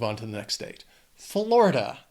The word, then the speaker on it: Florida: Florida. It also has 3 syllables and the stress is on that first syllable.